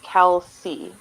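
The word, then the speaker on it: Kelce: i don't know but music says that it's pronounced kelsey oh okay thank you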